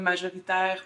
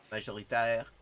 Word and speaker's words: majoritaire: C'est sûr qu'on est les francophones majoritaires au Canada. Majoritaire, not majoritaire, but majoritaire.